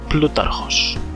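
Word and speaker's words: Πλούταρχος: Thank you to Serperoth on the MSB Discord for coaching me in the modern Greek pronunciation of, I'll just let him say it, Plutarchos.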